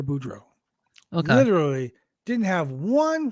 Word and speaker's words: Boudreaux: I've been calling Parker for DX this whole time. How you say his name? Parker Boudreaux.